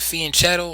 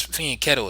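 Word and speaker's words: fianchetto: a Fen cetto position some people pronounce it Fen cetto some say Fen ketto I think it's Fen ketto is proper but for those that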